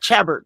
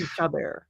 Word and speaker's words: Chabert: I'm always confused on how to pronounce her last name, so I'm glad you said it. Yeah. It's not Chabert. I know that for sure. Right. Yeah. But Lacey Chabert.